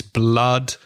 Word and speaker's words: blood: So it's blood and it's flood with double O, but then food with double O is a different sound. Yeah. It's oo compared to blood.